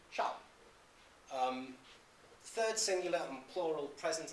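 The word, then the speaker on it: sal: The initial consonant of shall appears as S. So, it's spelled S-A-L, it's pronounced shall.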